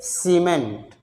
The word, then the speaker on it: cement: यदि इस देखिए यहाँ पर CEMENT, इसको क्या पढ़ेंगे सीमेंट।